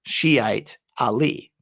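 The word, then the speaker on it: شيعة علي: With this type of possessive grammar in Arabic, the t on the t marbuta is usually pronounced before the word Ali. Thus, Shiite Ali, followers of Ali.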